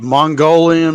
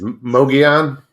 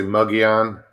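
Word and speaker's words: Mogollon: chat guys go ahead is it is it mongolian monster is that what it how you say it okay it's mogeon okay or or sometimes they'll say muggy on okay um but i always pronounce it mogeon and it's it's arizona's bigfoot just like the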